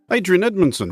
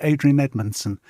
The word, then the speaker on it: Adrian Edmondson: spoke to Adrien Edmonson for the big interview Adrien Edmonson welcome to the big interview well thank you